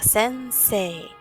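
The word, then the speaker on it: 先生: la diferencia por ejemplo en la palabra de sense I se escribe sense I sin embargo se pronuncia sense en el canal hay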